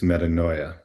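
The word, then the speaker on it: metanoia: Uh but essentially what it's pronounced as is metaninoia.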